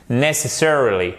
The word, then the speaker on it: necessarily: Donc première chose à faire, je sais que je radote et que j'insiste, mais c'est vraiment l'accent tonique. Necessarily, necessarily, necessarily.